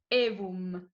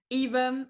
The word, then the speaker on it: Aevum: Okay, it comes from Latin, so in Italian we would say Aevum, but as maybe it's a bit hard to pronounce from English speaking people, like Aevum or Aevum is fine.